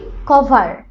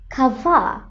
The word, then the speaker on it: cover: Next word দেখো COVER, আমরা বলি কভার, তাই তো? কভার মানে ঢেকে রাখা, ঢেকে রাখা অর্থটা ঠিক আছে কিন্তু উচ্চারণটা হবে খাভা খাভা।